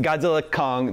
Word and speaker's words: Godzilla x Kong: So, first of all, the correct pronunciation, we just established this, it is just Godzilla Kong, the new empire, the X is silent, is that right?